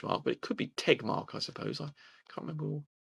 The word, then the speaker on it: Tegmark: to pronounce max tejma it's tegmark okay okay it's tegmark not ted mark okay take mark isn't